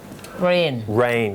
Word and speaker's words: reign: REIGN ไม่ได้แปลว่าฝนตกนะ REIGN แต่ว่าออกเสียงเหมือนกันนะครับ rain ก็คือโครงราช REIGN ออกเสียงเหมือนกัน ออกเสียงว่า rain แต่เขียนไม่เหมือน rain ใช่ครับI was born in